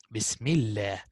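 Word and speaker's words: بسم الله: So Allah and Allahumma, again, only on these two words, the lam will be simplified if we have kasra before it. Like most common, Bismillah. Bismillah.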